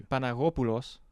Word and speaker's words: Panagopoulos: Panagopoulos.